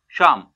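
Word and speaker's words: psalm: तो यहाँ P silent है। एस, एस से पहले क्या आया? पी। इसका जो साउंड आएगा वो क्या आएगा? शाम।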